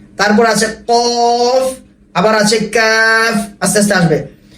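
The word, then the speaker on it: ق: ফা, এক আলিফ টান, ফা, ফা, দাঁত কামড় দিয়ে, ফা, তারপর অক্ষর দেখেন কফ, 3 আলিফ টান, কফ, কফ না, মুখ খুলবে না, ক, ক, এরকম বাড়ি খাবে না, কফ, আওয়াজ মোটা হবে কিন্তু বাড়ি খাবে না।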